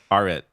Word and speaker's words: Arit: Sorry, my name's pronounced. You should start with this. My name's pronounced Arit. Arit.